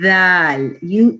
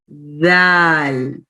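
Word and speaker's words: د: Yeah, so let's see how we will pronounce the dal. Your tip of the tongue, just put your finger here near your lips, okay? And try to lick your finger. And like in this way. Dal.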